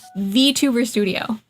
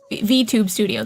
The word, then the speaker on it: VTube Studio: Yeah, it's the app itself is called VC Face, and the 2D app is it's VTuber Studio, VTube Studio. There's no R. I always say it wrong.